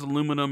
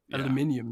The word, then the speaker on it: aluminium: and and the way jess says aluminum is the same as french spanish and french are closer to latin um and you're europe invented science so you know aluminium is clearly the correct correct way to say it so goddamn americans screwing